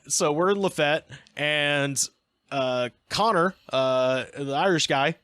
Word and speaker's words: Lafayette: the Marquis de Lafayette, but in Alabama is pronounced Lafayette. So we're in Lafayette, and Connor, the Irish guy, has had a